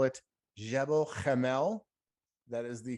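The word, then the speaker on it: Gebel Kamil: cube yeah if you want to call it gabo kamel you can if you want to call it jebel jamel that is the correct pronunciation i've seen it spelled differently too yeah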